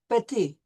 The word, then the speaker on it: petit: We drop the T when we're pronouncing the word for little, petit.